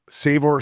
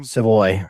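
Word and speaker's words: Savoie: Mio Ponyi Hopkins, the young kid, Savor Savory, however you say his name. Seavoy.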